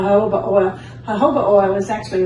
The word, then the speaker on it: jojoba: there in the blue i know that it doesn't sound like the way it's spelled yeah that's true it doesn't it's spelled j-o-j-o-b-a it's called a hobo well jojoba oil is